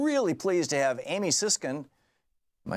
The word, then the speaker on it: Siskin: Thom Hartmann here with you, and in the studio with me, I'm really pleased to have Amy Siskin. Am I saying it right? Siskin. Siskin, yes.